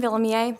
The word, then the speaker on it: Vuilleumier: So my name is Vuilleumier. That's the actual pronunciation. It's a French last name.